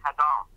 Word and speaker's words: Adam: I knew they also spelled Adam with an H, and it's pronounced Hadam.